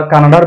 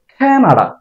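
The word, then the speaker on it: Canada: করি কানাডা কানাডা যাওয়া কানাডার বেগমপাড়া এরকমই বলি কানাডা না এটার উচ্চারণ হবে খেনা খেনা খেনা এটার উচ্চারণ আমরা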